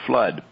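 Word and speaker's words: Fludd: may not have heard her pronunciation flood f-l-u-d-d so roxy says and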